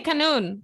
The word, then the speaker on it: kanun: I don't know if it has an English pronunciation, but in Turkish it's kanun. And I believe in English it's just written with a Q. Yeah, they say kanun.